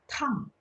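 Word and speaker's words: 趟: T bacanya masih ingat? TH, tang.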